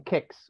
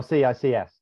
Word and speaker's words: CICS: a particular slant on kicks or CICS depending on how you pronounce it so I'm very